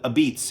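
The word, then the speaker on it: apizza: style they call it it's spelled AP i z Za but they call it a beats and it's a certain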